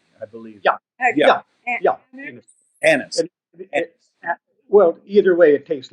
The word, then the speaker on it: Anis: That's spelled an N I s I believe. Yeah. Yeah. Yeah. Anis.